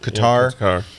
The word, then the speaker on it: Qatar: Cup is being held Qatar it's I guess it's pronounced cutter but it's q-a-t-a-r and